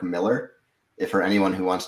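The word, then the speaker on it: Millar: uh his name is even though it's spelled like that it is mark miller if for anyone who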